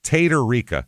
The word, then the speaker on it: Tatarica: It's Tatarica as it's spelled.